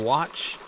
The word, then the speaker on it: Saguache: I'd start at Monarch, head down to 114 west of Saguache. If you try to look up Saguache, Colorado, it's not spelled like it sounds.